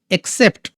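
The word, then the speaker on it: accept: যেমন ধরে নাও এক্সেপ্ট। এ ডবল সিই পিটি এক্সেপ্ট। এইযে দেখ এক্সেপ্ট। দুটো সিলেবেল প্রথমে এই সি এর উচ্চারণ হচ্ছে ক তারপর হচ্ছে স ওকে এক্সেপ্ট সাকসেস এস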